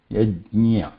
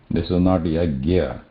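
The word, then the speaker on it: यज्ञ: Yajnya, it's not, should not be pronounced as yad also. Okay? This is not yajnya, or this is not yagya. Okay? This is not yagya. This is yaj. Say ja and then immediately add nya to it.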